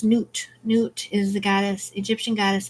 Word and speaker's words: Nut: right four of air water air for their nut egyptian goddess of the night sky until the dawn rests as a star in my body not pronounced newt newt is the goddess egyptian goddess of the night